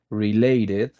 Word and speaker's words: related: specialize in providing health related you pronounce the E and D related assistance to patients are